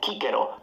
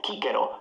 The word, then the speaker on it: Cicero: Classical Latin was always pronounced like a K. You can see now he's far from the camera. So it's Cicero, not Cicero.